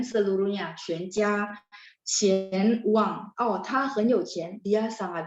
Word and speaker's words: 钱: 全 seluruhnya, 全家钱 uang. Oh, 他很有钱, dia sangat berduit, artinya kaya raya ya. 钱. Jadi pakainya CH ya, QIAN bacanya CHIAN. Bacanya ya, tapi tulisnya QIAN.